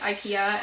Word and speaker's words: IKEA: a big company like, I'm just gonna say it the North American way, IKEA, and then you're like,